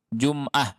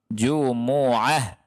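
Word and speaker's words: الجمعة: idza nudiya lissholati meomine Jumat itu salah miomine jumoah bacanya gitu bukan Jumat Tapi apa jumoah Nah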